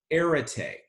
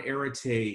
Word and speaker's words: arete: And I wish I had a way to sort of to write it on the board and spell it for you, but it's arete, A-R-E-T-E.